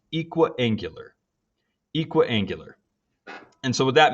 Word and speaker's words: equiangular: It's pronounced equiangular.